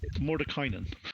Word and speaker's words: Mordenkainen: Mordenkainen. I'll say it in my my English accent. It's Mordenkainen.